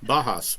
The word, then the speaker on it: Bauhaus: Bauhaus.